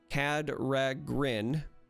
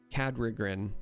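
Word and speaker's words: Kadregan: say it right cat cad rag grin cadre grin cad rigrin it's the r in grin i want to say cadre again every time but it's the r that trips me up cadre grin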